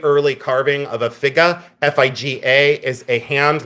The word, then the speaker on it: figa: FIG A is a hand like this. FIG A. I say Figa. That's the way I pronounce it.